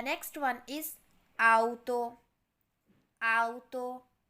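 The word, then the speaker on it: auto: next one इज आतो आतो इसका मतलब है गाड़ी लेकिन बहुत सारे लोग इसे आउटो भी कहते हैं तो इसलिए यह थोड़ा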